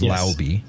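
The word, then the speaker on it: Laube: with Dylan lby which apparently that's the proper way of pronouncing his name is lby I learned that trying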